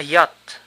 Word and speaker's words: yacht: Un yate, a yacht. La che no se pronuncia.